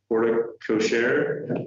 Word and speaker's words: porte cochere: And then there's a new, I'm going to butcher porte cochere, that's how you say it, porte cochere, a new porte cochere, and a remodel inside of the building.